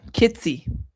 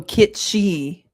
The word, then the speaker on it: kitschy: Close. I think there's an S in there. Oh, kitsy. Kitsy. Kitsy. Am I wrong? Oh, kitschi. Kitschi. Like that. That's how you say it.